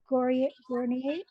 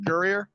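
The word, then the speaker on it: Guerrier: Adams, and we did actually Matt Gournier. I don't even know how to pronounce his name. He Mm. was a Dodger baseball. Oh, Matt Gurrier.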